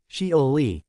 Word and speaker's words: Shioli: the spacecraft touched down near a crater called shioli a Japanese female first name pronounced sholi which sits about 200 m 322 km south